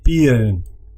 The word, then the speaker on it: peeren: Peer and peeren. Se hacen dos sílabas.